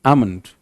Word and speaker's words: almond: So that is almond, L silent.